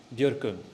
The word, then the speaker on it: Björkung: Björkung. Björkung. So yeah, you have the O with the two dots. It's pronounced Okay, because many people say Björkung. Yes. Yeah, it's the easy way.